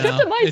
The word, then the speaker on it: streptomycin: pronouncing strepto whatever wrong? Was that No, it's streptomycin just- is still actively Yeah.